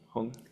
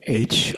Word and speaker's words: Hong: And he proposed that we chant the syllable Hong. You said Hong. Is it like Hong or? Yep, you got it. It sounds like, when I was listening, it sounds like Om.